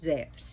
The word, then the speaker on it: Zeus: Now, Zeus, actually, Zeus, pronounced Zeus if you go to Greece. Trust me. Z-E-V-S, Zeus.